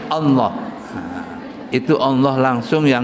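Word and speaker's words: الله: Tulisan alif, lam, ha digandeng semuanya. Kan bacanya alalah itu. Oh enggak, itulah bacanya Allah.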